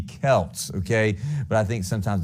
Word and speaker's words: Celts: basketball team here no it's actually pronounced the Kelts okay but I think sometimes the basketball name throws us off all right thank you the Kelts it does look like selts though number two name